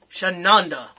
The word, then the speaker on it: Shananda: Shananda. She rhymes with Honda.